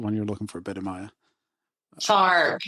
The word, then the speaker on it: Sark: Sark. It even rhymes with dark.